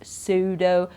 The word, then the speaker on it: pseudo: you know that okay then sometimes we have a silent P that's often a typical mistake as well here when people pronounce the p in those words and that's wrong so we say Sai we don't say we